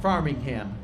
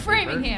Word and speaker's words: Framingham: You're running through, you got Hopkinton, Ashland, Farmingham, Natick, Wellesley, Newton, Brookline, and then Boston. I knew that. I had that in my head. I didn't forget that. Framingham.